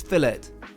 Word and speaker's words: fillet: redare and for meum cooked fillet yes we pronounce it that way in the UK before I get any